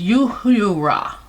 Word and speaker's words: Uhura: One was Uhuru, or Hurura, is what she reportedly changed it to, which was Swahili, or it was pronounced Uhura.